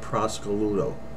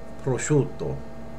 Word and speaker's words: prosciutto: market and she said give me a half a pound of Prosecco Ludo you will never say that you'll say prosciutto okay we'll say it correctly and you won't look